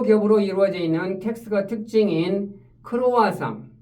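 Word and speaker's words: croissant: 이루어져 있는 텍스트가 특징인 크로아상 크로와상 여기 t가 브로이다 보니까 발음이 안 되죠 그 다음에 초승달을 뜻하는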